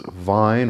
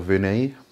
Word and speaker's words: Vine: But another one is Vine or Vinay. Some people pronounce that a bit differently.